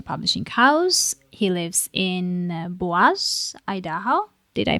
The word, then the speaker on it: Boise: the independent Manifesto publishing house he lives in baz Idaho did I pronounce that correct boisey okay yeah yeah that was the French boisey